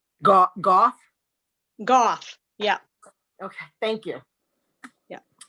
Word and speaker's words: Goff: I think it's Goff. Goff? Goff, yeah.